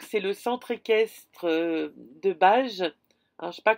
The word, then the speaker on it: Bages: le Périgord, tout ça, on dit toutes les lettres, donc Bagès. Bon, je vais dire Bage.